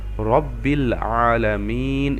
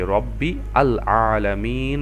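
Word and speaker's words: رب العالمين: ভিডিওতে আমি বলেছিলাম তো এজন্য আমরা রব্বিল আলামিন এভাবে পড়ছি রব্বি আল আলামিন না পড়ে আচ্ছা তো আমাদের এই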